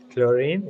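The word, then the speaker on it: Clorinde: time uh chlorine right chlorine is that how you say yeah you pronounce the d as well okay first Lillian and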